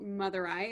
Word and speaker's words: Madurai: In a city called Madurai. Again, am I pronouncing that correctly?